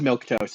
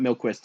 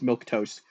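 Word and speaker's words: milquetoast: toast yeah it's well it's m-i-l-q-u-e toast but it's pronounced you know m-i-l-k T oh oh with the little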